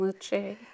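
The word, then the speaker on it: Leuci: name it's l-e-u-c-i okay I like Susan Lucci spelled differently it's pronounced the same yes so is there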